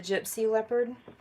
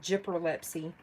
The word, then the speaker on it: Gypsy Leopard: We did the Gypsy Leopard. Hey, did y'all hear that? I said it right this time. I swear every time I say Gypperlepsy.